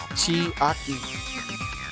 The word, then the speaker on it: Chiaki: Chiaki.